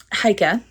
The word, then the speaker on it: Haika: this book follows um haika is how you say her name and I've pronounced it wrong basically every time until I started reading this book this follows hia who